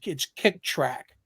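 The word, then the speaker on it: Kicktraq: There's a certain kind of pace you want to hit, and there's actually a site called Kick Track, and track is spelled TRAQ.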